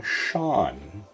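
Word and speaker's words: Seán: with a broad s a slender s would be sh sound like in the name sean that's why the irish spelling is s-e-a-n to let us know that that s needs to be pronounced slender because it's next to an e where e and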